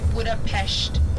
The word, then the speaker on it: Budapest: So we say Budapest, they will say Budapest. So that's how you say it there with like the sh.